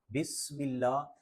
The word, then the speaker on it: بسم: بسم اللہ الرحمن الرحیم۔ بسم اللہ، سین میں ہلکی سی سیٹی کی آواز آنی چاہیے۔ بسم اللہ الرحمن الرحمن،